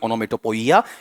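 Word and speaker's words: onomatopoeia: पी ओ ई आई उच्चारण भी ओनोमेटोपोइया या ओनोमेटोपी है ओन मेट पीिय इस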